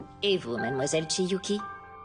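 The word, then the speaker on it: Chiyuki: Moi aussi, c'est ce que je préfère, ma petite Shiuki. Je crois que je m'appelle Chiuki.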